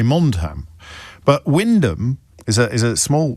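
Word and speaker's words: Wymondham: Windham is one of those curious English towns that's spelled entirely differently from how it is pronounced. It's it's spelled Y Mondam, but Windham is a is a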